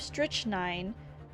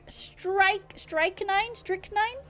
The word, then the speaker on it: strychnine: Strychnine? It rhymes with sickening. Strykening?